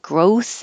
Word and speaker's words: growth: And growth is a weird word. Growth. You have to have some TH, get the airflow going because you'll need it for the S.